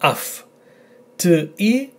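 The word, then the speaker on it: αυτί: So, this word, the combination, is pronounced af. Not I, not av, but af. T-I, the tone here, af-ti.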